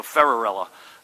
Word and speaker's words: Ferrarella: this pronunciation right and they said think Cinderella so ferrarella John there he is